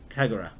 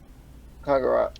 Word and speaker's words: Kagura: Kagura. Kagura. Yeah, with Japanese names you sort of spread... You say each syllable separately most of the time.